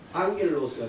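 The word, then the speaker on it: ἄγγελος: 그래서 에인젤이라고 하는 영어를 헬라어로 발음할 때는 앙겔로스가 됩니다. 그럼 좋다는 접두를 붙이면 유앙겔리온이 되죠.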